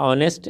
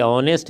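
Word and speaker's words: honest: बॉय के पहले जो है वो आपको आ गया ऑनेस्ट एडजेक्टिव, तो इसके उच्चारण के अनुसार ये ऑनेस्ट है, भले ही अच्छा, लेकिन इसका उच्चारण औ से शुरू हो रहा है, इसलिए जो है एन लगा।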